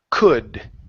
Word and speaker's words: could: word could right here instead of C could okay give me an uh sound here could could good um he